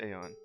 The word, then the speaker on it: Aeon: Yeah, we are gonna call it Aeon. I usually would either say Aeon or Eon because either pronunciation's correct.